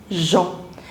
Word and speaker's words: Jean: In French, you do not pronounce the last consonant, so it is Jean.